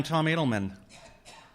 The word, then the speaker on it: Tom Adelman: I am Tomato Man, and there's another sign for this, which I don't have. So, Tomato Man, Tom Adelman.